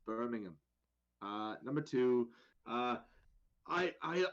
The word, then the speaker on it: Birmingham: i first feel the need to clarify it's pronounced birmingham it's not birmingham it's birmingham uh number two uh i i i think